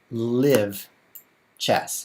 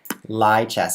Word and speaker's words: Lichess: It's like live chess. Just pronounce it like the word live. Oh, thanks, because that's the same as the word live. Turns out he actually says lie. Lie chess, as in I'm not telling the truth.